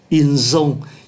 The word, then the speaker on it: ils ont: Ký từ S ở đây phát âm là Z, ils ont.